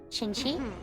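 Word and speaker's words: Qiqi: the fact that uh Q is pronounced CH H in Chinese so I guess it would be chinchi uh I don't know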